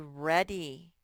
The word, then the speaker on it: ready: Are you ready to go? Then the EA sometimes spells red. And in a two-syllable word, the Y says E.